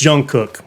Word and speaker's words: Jungkook: But I'm sorry, it's Jungkook.